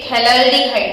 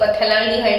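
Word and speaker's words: phthalaldehyde: ये थैलाल्डिहाइड है जिसमें P हमेशा साइलेंट रहता है। हम थैलिक एसिड थैलाल्डिहाइड P से नहीं बोलते, पथैलिक एसिड पथैलाल्डिहाइड ऐसा नहीं बोलते हैं, P साइलेंट है, तो ये थैलाल्डिहाइड है।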